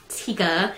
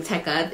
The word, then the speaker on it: Tekka: what like brand my glasses are they are tekka or Tikka I pronounce them tekka it's te e k a um Tekk eyewear